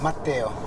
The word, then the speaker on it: Matteo: Matteo. Matteo? Matteo, like Matteo, like Matteo. Matthew, but in Italian it's Okay.